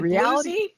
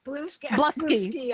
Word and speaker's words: Bluesky: I think that's Blue Sky, actually. Yes. Stop blingy. All righty. That's our industry news. What did I say? Bluesy. Bluesky.